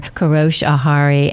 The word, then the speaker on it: Kourosh Ahari: And my guests today are director, writer Kourosh Ahari and producer Alex Bretow.